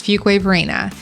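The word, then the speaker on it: Fuquay-Varina: you have it I just said it it's Fuquay Varina and there's lots of funny memes on that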